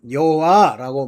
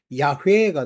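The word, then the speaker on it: 야훼: 근데 여기 보면 안글로 번역할 때는 여호와라고 말하지만요. 다ord 주라고 하잖아요. 주. 왜냐면 히브리어의 원래 원어로는 요헤이 바헤이 우리로 그거를 한국식으로 발음하면 야회가 됩니다. 근데 이제 그거를 번역해서 여호와라고 말한 거야.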